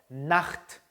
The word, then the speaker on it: Nacht: 자, 끝에 있는 단어가 좀 발음이 거세죠? Nacht. 다시 한번 Nacht 이렇게 하면 Nacht.